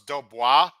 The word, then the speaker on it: Dubois: It's pronounced Dubois. I like how the thing that he put in the rhymes is even harder pronounced than the actual word we're trying to say. I think Simon. It's petit pois, right? So it's Dubois.